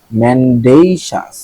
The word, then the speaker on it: mendacious: ম্যান্ডেইশাস, ডেই কেমনে হয়, ডিএ তে ডেই কেমনে হয় ভাই, ম্যান্ডেইশাস, কিন্তু এটা ভালো উচ্চারণ হচ্ছে ম্যান্ডেইশাস, ম্যান্ডেইশাস।